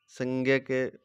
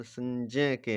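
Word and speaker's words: संज्ञके: प्रियलते व्याख्या अव्यक्ताद व्यक्तव्य अव्यक्तद व्यक्त से लेकर डैश डैश डैश तत्र व व्यक्त संज्ञ के बोल रहे हैं इसको लेकिन यह सही उच्चारण संजय के हैं। संजय के संजय के ज संजय के तो मात्र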